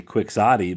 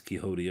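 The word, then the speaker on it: Quixote: I was going to say Quicksotti, but that ain't how you say it's Kiodi, I believe.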